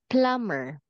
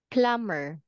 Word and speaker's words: plumber: on the city yes plumber plumber there there water everywhere we need a plum yes okay in here this is silent B plumber plumber plumber plumber yes